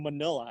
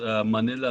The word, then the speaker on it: Manila: sure go ahead um you always pronounce manila like rhymes to vanilla but i thought manila is pronounced manila can you can you tell me i always pronounce it manila i guess that's just the way we americans pronounce it all right yeah i